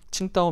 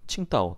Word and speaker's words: 칭다오: 우리 조선을 바꿀 게 있거든요 그게 바로 뭐냐면 칭다오 맥주 로 유명한 칭다오 다른 말로 우리는 고우리 발음으로는 정도라고 하죠 중국의 청부가 당시 독일의 식민지